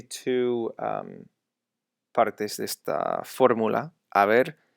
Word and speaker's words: haber: speaking, when using this, there's no H sound. Okay, it's not haber, it's haber.